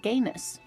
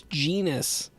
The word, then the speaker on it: genus: same taxonomic family different gayus gayus what why is pronunciation so weird in this game that's genus let's see genus genus genus what why did she